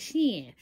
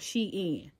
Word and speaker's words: SHEIN: from Shane yo man it's not Shane and shin coming to find out they were saying it wrong it's called she in okay is she in